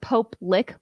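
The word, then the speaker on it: Pope Lick: अब यह है, वास्तव में इसका उच्चारण पोप नहीं है। इसे वास्तव में पोप लिक मॉन्स्टर उच्चारित किया जाता है, जिसका संबंध एक झील से है।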